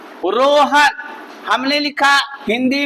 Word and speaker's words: Rohan: हमने तो RO लिखा, रो हो गया, लेकिन हन, अभी इसको पढ़ोगे तो, इसे पढ़ोगे तो इसका निकलेगा क्या, रॉन। यहाँ साइलेंट हो जाएगा, इसका पढ़े निकलेगा रॉन। जैसे आप पढ़ते हो JOHN, जॉन, इस तरह हो जाता।